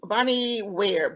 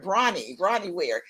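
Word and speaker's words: Bronnie Ware: woman her name is bonnie she's a um bonnie where brony rotty ware is actually how she pronounced her name she's an australian nurse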